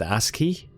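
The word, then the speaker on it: ASCII: It's pronounced Aski. Aski. Aski.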